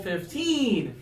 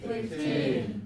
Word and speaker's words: fifteen: And then the bigger number has the stress on the early syllable, 50. 50. And the lower number has the stress on the later syllable, 15. 15.